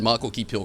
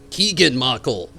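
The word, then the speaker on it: Keegan-Michael: But they had Michael Keep Hill come in there, and he did excellent.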